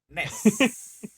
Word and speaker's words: NES: llamó Nintendo Entertainment System, o como se pronuncia esa madre, NES.